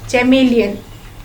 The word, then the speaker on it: chameleon: Chameleon.